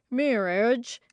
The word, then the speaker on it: mirage: asked Uncle Benjamin, and not waiting for Valancy to give it up, he added, "Mirage and marriage." "M-I-R-A-G-E is pronounced mirage," said Valancy shortly, picking up her tea and her beans.